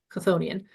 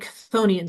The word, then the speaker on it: chthonian: well, you're saying it Chthonian, so you're saying it wrong because the dictionary says it's supposed to be Chthonian and the k is silent.